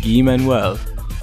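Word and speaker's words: Guy-Manuel: i'll take the fall it is pronounced gui manuel there wasn't really anybody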